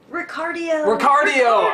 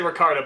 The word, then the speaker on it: Ricardio: Ricardio. I always say, I'm always about to say Ricardo, but I'm like, no, it's not that, it's Ricardio! Remember, heart, cardio.